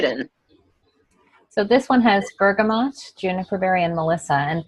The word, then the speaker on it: bergamot: would apply to this because it has the bergamot in it and I just learned recently some people say Bergamo and some people say bergamot and our bergamot is sourced in Italy and